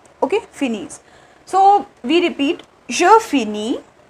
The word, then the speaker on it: finissent: Okay, so it becomes Finese. Okay, E N T is not pronounced here. So what is the pronunciation of this with plural ill and L is Finese. Okay, Finese.